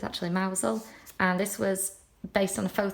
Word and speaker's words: Mousehole: This is a place called Mousehole. It's spelt Mousehole, but it's actually Mousehole.